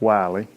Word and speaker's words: Willie: prominent politician Wylie Jones it it looks like it's spelled Willy but they say it's pronounced Wylie the story alleges that Jones